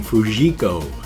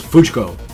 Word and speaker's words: Fujiko: especially like the name what i would pronounce his name fujiko is fujko so but anyway uh